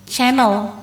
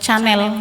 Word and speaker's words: Chanel: C Hah net12 l&e jadi kira-kira bacanya gimana ya Punya ya misalnya kalau kita sih yang enggak enggak ngerti ini ya Madam ya nggak ngerti bahasa Perancis goreng ngomongnya masih channel biarkan atau Chanel gitu dan ternyata setelah dijelaskan